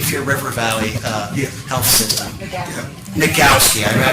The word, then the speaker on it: Nagowski: And we also have, how do you pronounce his name, Nagasone? Mike, the CEO of the Cape Fear River Valley Health System. Nagowski, I mispronounced that, I haven't met him personally